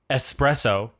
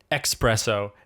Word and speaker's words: espresso: So it's escape, espresso, and etc. Not escape, espresso, and etc. Yeah, there's no Yeah. X in there.